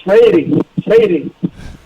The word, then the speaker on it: Freire: Estava falando aí sobre como é que pronuncia seu sobrenome. It's Freire. Freire, okay.